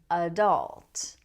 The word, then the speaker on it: adult: Now, most people say adult. Now, this has stress on the second syllable, so the first syllable is reduced to a schwa sound.